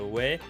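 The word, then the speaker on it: 왜: Mais il ne se prononce pas O-E, mais il se prononce ouais.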